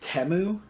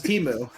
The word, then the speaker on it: Temu: know yeah we are uh didn't know was pronounced temu I thought I think if it one thing